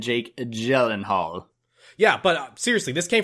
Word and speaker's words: Gyllenhaal: in the Jake Gyllenhaal so Jake Gyllenhaal okay not silent it's Jake Gyllenhaal so I wasn't sure